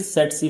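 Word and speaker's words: tsetse: यानी ये जो सेटसी फ्लाई है ये वेक्टर के तौर पे काम करती है। याद रखें इसकी प्रोनाउंसिएशन कैसी होगी, सेट सी।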